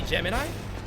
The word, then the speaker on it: Gemini: Thank you. Geminy. Shouldn't it be Gemini? I I I've been saying the name wrong all this time.